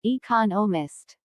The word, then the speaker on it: economist: smith is an economist notice the stress on economist this content word has new information so it is emphasized there are four syllables in economist with the stress on the second syllable economist he just finished writing